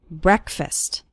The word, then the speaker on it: breakfast: while eating breakfast and the first syllable of breakfast is pronounced with an e sound it's not like the word break it's like bre breakfast or listen to an